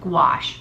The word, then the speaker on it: gouache: it for the color pencils let's move on wash not bûche gouache a I'm trying to think about people who pronounce it it's pronounced will wash you probably